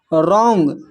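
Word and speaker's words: wrong: तो पहला रूल चलिए देखते हैं, जब डब्लू के बाद आर रहे तो डब्लू साइलेंट होता है। तो देखिए यहाँ पर रॉन्ग, रॉन्ग में जो है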